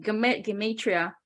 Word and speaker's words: Gematria: Gematria, right?